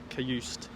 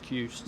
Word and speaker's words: Cajuste: I think it's I don't think you pronounce the E. Cajuste. Jens Cajuste.